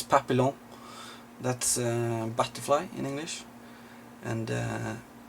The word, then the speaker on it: Papillon: It's Papillon.